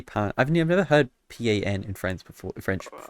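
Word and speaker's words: pain: Pat I've never heard pan in France before in French I mean that's how you say it because a part is bread oh no yeah no part no it's like paw or like pong you're either way so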